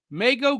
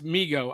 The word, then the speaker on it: Mego: Who you gonna call cartoon commotion says dude Meo Ghostbusters yes and it's Migo I you know what I grew up pronouncing it Meo and I only learned like